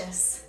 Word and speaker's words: Glacius: Glacius. Wow, Glacius. If I went to a bar and the drink was named Glacius, I would drink it and be gracious.